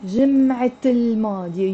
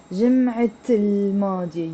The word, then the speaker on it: جمعة الماضية: You're pronouncing the T مربوطة. جمعة الماضية. You see this T here? I'm pronouncing it. جمعة with the L. جمعة الماضية. But if I put L to جمعة, I'm not going to say الجمعة الماضية. No, it becomes, this T becomes silent and it becomes الجمعة الماضية.